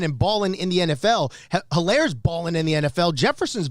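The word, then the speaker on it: Helaire: will be doing what hilaire is doing right now or alair the h is silent apparently so he's not a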